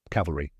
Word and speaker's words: cavalry: Cavalry. So, how do you pronounce it? Here's the correct way. Cav or re. Let's break it down step by step. First, cav rhyming with have l a soft middle syllable like the ule in cuddle.